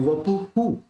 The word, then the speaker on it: वपुः: ये जो है विसर्ग, उसको यहाँ पे कैसे लेंगे? हु के रूप में लेंगे, क्योंकि पू के बाद ऊ रह जाता है, तो वपु हु ये उसका प्रोनाउंस रहेगा विसर्ग का।